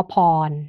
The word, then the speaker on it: พร: นะ คะ เช่น เอ่อ มี พยัญชนะ แล้ว ก็ บวก ร เรือ นะ คะ ออก เสียง เป็น พยัญชนะ บวก อ แล้ว ก็ บวก น ตัว อย่าง เช่น คำ ว่า พร นะ คะ พ พาน ร เรือ อ่าน ว่า พร นะ คะ ก็ เป็น